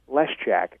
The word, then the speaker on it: Leszczak: w m n and my last name is a little tough but it's lesack l s z c